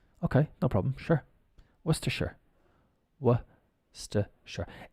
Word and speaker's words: Worcestershire: And then if we add the Shire on, it becomes Worcestershire. Sure. Like sure, yeah. Okay, no problem. Sure. Worcestershire.